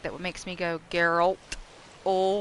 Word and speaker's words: Geralt: accent it make that what makes me go geralt oh like with a u instead of geralt